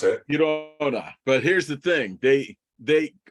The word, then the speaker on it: Girona: So Real, they drew against Granada, or how you pronounce it? Girona.